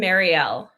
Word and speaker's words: Marielle: Marielle. Like Mary plus an L, but not spelled like that.